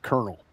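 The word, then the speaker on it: colonel: So, uh, what the one example was the word kernel.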